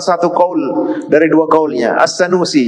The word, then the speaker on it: As-Sanusi: As-Sanusi yang tadi sudah kita bahas ya. Ada yang membacanya As-Sinnausi.